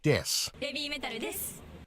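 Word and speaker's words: です: will use a pun with the English word death instead of the Japanese word Des as Des means I am or we are and is pronounced similarly okay the fox hand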